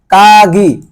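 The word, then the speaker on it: かぎ: হয় সাপু পেন্সিলরুপ মানে mechanical pencil তারপরে যাই কাগি কাগি কাগি মানে হচ্ছে চাবি কাগি মানে হচ্ছে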